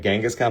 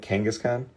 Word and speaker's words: Kangaskhan: It's like Gangaskhan, but Kangaskhan.